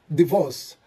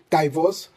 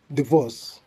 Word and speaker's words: divorce: The 16th word should be pronounced as divorce, divorce. The I takes the original E sound instead of the diphthong I. So we shouldn't say divorce, we should say divorce.